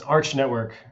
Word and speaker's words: Arch Network: bit more about you and about is it Arc or Arch how do I pronounce it it's it's Arch Network so Arch Network Arch Network great start um